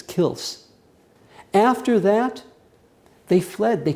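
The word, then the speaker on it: Kielce: kills k i lce in English it's pronounced Kelsey but I think in Polish it's kils after that they fled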